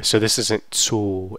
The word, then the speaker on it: zu: Ich arbeite zu Hause. Zu. So this is not a Z, it's a Z. It sounds like Z. Z. So you have, basically this is T and S pronounced as one sound.